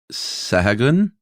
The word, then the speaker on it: Sahagún: this was a Franciscan priest named Bernardino de Sahagún. I have no idea how to pronounce that.